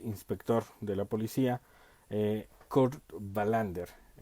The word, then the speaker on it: Wallander: de la policía kurt wallander digamos que la pronunciación sería verlander es interesante esta serie